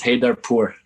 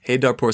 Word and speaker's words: Heydarpour: Last name is Haydarpur. Haydarpur. So the R is silent? Kind of? Haydarpur.